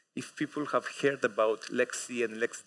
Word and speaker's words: LXC: these letters these acronyms one way to pronounce them is to say Aleksey or lxd however the official documentation of of the project says at the very beginning that we pronounce them Lexi and LexA T for my